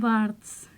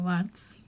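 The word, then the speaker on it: Barthes: hasta que llegó Roland bartz creo que se pronuncia barts No lo sé en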